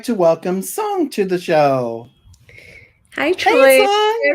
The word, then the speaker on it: Cong: so my name is song uh it spells as c-o-n-g but it's pronounced more like s-o-n-g so i prefer to